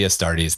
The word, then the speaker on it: Astartes: together i i know it's supposed to be astartes the thing that kills me is i can